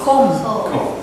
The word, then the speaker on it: comb: Do you pronounce these the same way? No. There the letter at the end of the word com and Yeah. Well, I don't think you pronounce pronounce the B necessarily, but you pronounce the L.